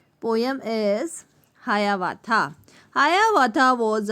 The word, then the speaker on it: Hiawatha: तो ऐसा ही एक आदिवासी बॉय था यानी लड़का था जिसका नाम था हायावाथा. तो हायावाथा जो है वो किसी का नाम है. ये स्पेलिंग है HIAWATHA, हायावाथा.